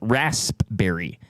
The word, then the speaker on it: raspberry: Uh ready to drink line of lemonades featuring the limited edition Raspberry. Um so it looks like And thank you for pronouncing that correctly.